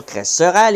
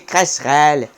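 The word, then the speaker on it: crécerelle: Déjà, on dit pas cresserelle, il l'a mal prononcé. C'est cresserelle.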